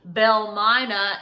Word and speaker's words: Belle Mina: si mama diem and it sort of became phonetically called Belle Myna and that is still Twitter is called to